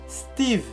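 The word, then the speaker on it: Steeve: Para o povo haitiano é assim. Se pronuncia Steve. Agora, Steve, S-T-E-E-V-E.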